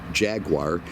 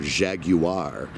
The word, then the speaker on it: Jaguar: these cars because there's two schools of thought on the name Jaguar some people think it's just like the animal which is pronounced you know Jaguar other people think it's this big fancy thing called Jaguar and I'm gonna have